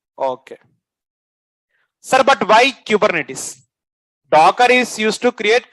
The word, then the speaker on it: Kubernetes: okay sir but why kubernetes docker is used to create containers okay I'll